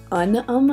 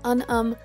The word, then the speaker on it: Unum: I use Visco, a program called Unum, I think it's how it's pronounced, it's U-N-U-M.